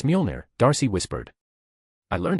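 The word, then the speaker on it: Mjölnir: So, trust me, you will be able to lift Muner. It's Mjolnir, Darcy whispered.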